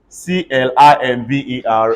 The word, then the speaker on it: climber: to the word the B will still be silent c-l-i-m-b-e-r everybody say climber c-o-m-b-i-n-g say combing I